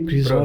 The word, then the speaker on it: Crisrober: E agradecer também a presença do senhor Cris Robert dos. Olha, até o sobrenome eu lembrei, hein? Acertou. Até o sobrenome eu lembrei, Cris Robert. Pronúncia perfeita.